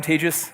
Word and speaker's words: Tejas: as an introduction I'm tagis I feel like I shouldn't do this because I've been doing this the whole day if you've wondered how to pronounce my name it's like contagious don't worry I'm not